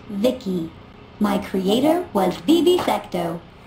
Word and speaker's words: V.I.C.I.: transistors by the way i'm the ici pronounced vicky my creator was vivi